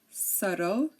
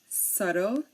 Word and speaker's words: subtle: pronounce the b um there are a few words in which the B is silent before the T okay so here we have words and um the t comes after the B and um these are silent we do not pronounce the b in these words when the t comes after the B such as DT doubt subtle dter doubtful and subtly subtly okay again dep